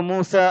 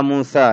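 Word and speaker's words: موسى: এর দিকে তো হাদরের মারজি হল আসান আলকহয়া মুসা হে মুসা তুমি তা নিক্ষেপ কর তখন মুসা আলাইহিস সালাম তার লাঠিকে জমিনে নিক্ষেপ করলেন মুসা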